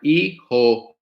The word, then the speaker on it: hijo: Hijo, hija, H silent.